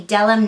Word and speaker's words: Bdellium: This one right here is the Bdellium 959. The B is silent.